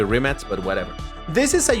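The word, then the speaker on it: Rimac: the remac concept s I might say remac or remat uh technically the pronunciation should be remat but whatever this is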